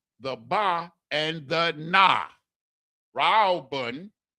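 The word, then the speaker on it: ראובן: Ra'awbun is how it's pronounced in the Hebrew. Reuben is pronounced Ra'awabun.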